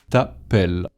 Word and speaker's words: t'appelles: With an S at the end that you don't pronounce.